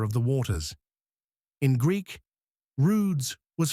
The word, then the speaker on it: rwd: The late Egyptian word rwd pronounced like rude or ruds meant shore.